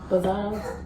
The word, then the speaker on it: reposado: We're gonna use Reposado. That's how you pronounce it.